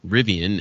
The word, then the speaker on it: Rivian: survey yeah and behind rivien is the number one I think that's it that's how you pronounce that car company right it is there's